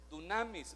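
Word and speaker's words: δύναμις: Esa palabra poder, que otras traducciones, hermano, nos lo dejan de otra forma, es una palabra que en el griego se pronuncia dunamis, más o menos.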